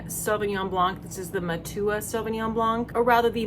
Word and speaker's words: Matua: This is the Matua Sauvignon Blanc, or rather the Matua Sauvignon Blanc. Someone told me how to pronounce that correctly, and it was a person from New Zealand. So it is Matua interchanged with just any type of Prosecco.